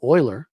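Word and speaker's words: Euler: You create an ETF, which by the way is actually a quotient from a gentleman named Oiler. It's spelled E U L E R.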